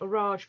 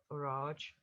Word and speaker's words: Orage: playwright George Bernard Shaw used to say his name Orage in a French way, and it kind of caught on, and then everyone called him Orage.